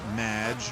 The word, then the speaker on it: Madge: It's Madge, which rhymes with badge, as in duh, and no as in more than you.